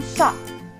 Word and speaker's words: chat: Un chat. Donc ici, on ne prononce pas la lettre T.